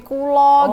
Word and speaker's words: kula: Ya banyak sih kan pelafalan bahasa Jawa tuh kan kula jadi kulo gitu kan ya.